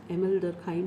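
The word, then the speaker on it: Émile Durkheim: दुर्खीम लिखा होता है, मैं प्रोनाउंस एमिल डर्खाइम ही करूँगी क्योंकि ये फ्रेंच प्रोनाउंसिएशन है।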